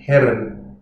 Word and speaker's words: Herren: Herren, the R's in German, I think the safest to say it's best to roll the R. To pronounce it really authentically is quite hard to get the guttural German R, but the key thing is to avoid swallowing it. But Herren, with a rolled R, with the tongue forward,